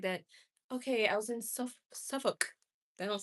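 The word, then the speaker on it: Suffolk: You don't pronounce the L. It's suffoc but spelled suffoc. Okay. I've been saying like that. Okay. I was in suffuk.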